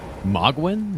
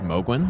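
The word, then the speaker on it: Mohgwyn: Uh, he does pronounce the palace as Mogwin. No, he doesn't, does he? No, I think he says Mowglin.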